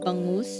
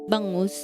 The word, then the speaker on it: bangus: I I think milkfish is the English term for it cuz the Filipino term for it is bangus. It's spelled B A N G U S. Yeah. Bangos.